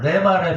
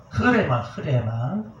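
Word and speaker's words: ῥῆμα: 그런데 참 여기서 우리나라 목사님들이 공부를 조금 안 하셔가지고 그 언어 헬라어를 자꾸 콩글리시로 만들어서 우리 기독교는 레마 그랬는데 레마가 아니라 흐레마 로고스가 흐레마가 된다.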